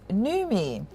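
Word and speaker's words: Noumi: foods group will now be officially known as nume the word newmie pronounced as me is a combination of the words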